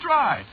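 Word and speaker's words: Drei: Yeah, but of course that ain't the way you spell it, see? What? No, you see, it's a German name.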